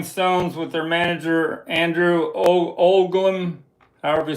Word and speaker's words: Oldham: the Rolling Stones with their manager Andrew Olam, however you say his name right. O D H A M Oldham.